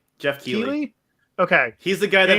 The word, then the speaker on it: Keighley: Jeff Keighley. Okay. He's the guy that hosts the video game awards. Oh, what? He's the guy that hosts the video game awards. Jeff Keighley.